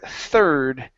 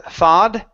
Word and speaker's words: third: Next up is the word third. Here, instead of thawed, okay, give me a good R sound.